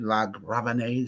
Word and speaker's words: LaGravenese: Okay, so it's based on this novel, this Irish novel, and it was adapted and directed by Richard LaGravenese.